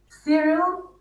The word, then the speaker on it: Cyril: Cyril rhymes with squirrel, and Pat rhymes with rat.